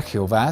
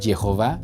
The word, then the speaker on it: Jehová: Este juego de letras, que ni siquiera se pronuncia Jehová, sino Jehová, fue un intento exitoso de los judíos de